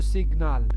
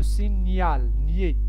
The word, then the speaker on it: signal: هاي عاوتاني واحدة أخرى ما كنقولوش le signal, كنقول le signal. nier. GN se prononce nier.